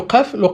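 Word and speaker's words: قاف: Le F, la lettre F et le qaf c'est la lettre K emphatique, d'accord?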